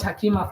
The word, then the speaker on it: Hakima: Oh, sorry I'm saying your name wrong. I think this is the female version of Hakeim, right? So, thank you so much, Hakima, for coming.